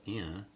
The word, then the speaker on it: Ryan: found out in Rio, "Yan", what you are? "Yan". Yeah, my name is pronounced "Yan" in Brazil.